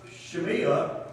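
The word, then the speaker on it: Shimei: alone but this time shemia is the way it's pronounced is singing a different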